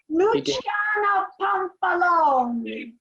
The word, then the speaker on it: Luciana Pampalone: Luciana Pampalone, is that the correct, way? correct. Yes, I'm yes. Italian, so that's why I know how to pronounce these things. You do. Luciana Pampalone.